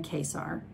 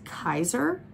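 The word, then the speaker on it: Kaysar: Okay, Kesar, okay, I pronounced his name Kesar. In a live chat with Gena, I heard somebody, I don't know if it was her or if it was J.R. Ward because she was also there or J.R. Ward's assistant, somebody said his name, pronounced it as Kaiser, like the role.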